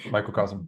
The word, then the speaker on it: microcosm: like a a mic micro Cosmo right did I say it correctly correctly yeah microcosm yeah yeah microcosm so um uh so